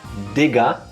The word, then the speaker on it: Digga: we have this expression Digga. It's important to fully pronounce the D, because especially to English-speaking audience, if you don't hear the first sound, this can go horribly wrong.